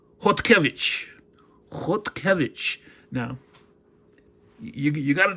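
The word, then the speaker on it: Chodkiewicz: Now, it looks like it's pronounced chi wix, which is not. It's Polish. So, of course, that's pronounced hotic.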